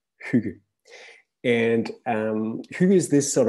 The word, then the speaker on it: Hygge: I know it's difficult to pronounce, but it's pronounced Hygge.